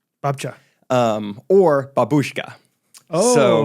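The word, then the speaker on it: babcia: was uh or in Polish uh grandma is pronounced Babcha. Babcha.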